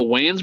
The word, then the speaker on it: Wayans: I want to say it's the Wayland brothers. Wayland brothers. No. Oh, the Wayans brothers. Yeah, I always pronounce their name.